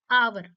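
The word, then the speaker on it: hour: देखिए आप आवर देखिए एच ओ यू आर आवर तो यह स्टार्ट तो कंसोनेंट से हो रहा है लेकिन उसका जो हम बोलते हैं बोलते टाइम एच साइलेंट हो जाता है वो क्या हो जाता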